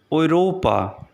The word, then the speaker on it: Europa: The pronunciation of this word is Europa, Europa, which means Europe.